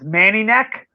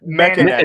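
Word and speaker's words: Mekaneck: Manny Neck. Well, how you pronounce it? Mechaneck. neck. Mechaneck. Yeah.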